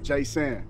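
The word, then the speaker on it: Jaysan: Jay-San. Jay-San? Yeah. Spell it.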